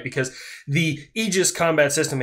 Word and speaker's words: Aegis: conjunction right because the egis combat system Aegis combat I like saying Aegis I'm sorry I'm just going to continue to say Aegis because America right so the Aegis